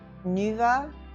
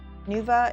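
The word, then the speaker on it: Nüwa: Remember that piece that I did of the, I guess you pronounce her name Nuva? Nuva, it's N-U with the umlaut, W-A.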